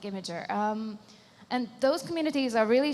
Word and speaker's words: Imgur: How do you say it? I say it Imgur on Bosnian, but it's like Imager.